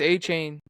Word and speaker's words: Achane: I think it's A-Chain. That's what they say on the Achane?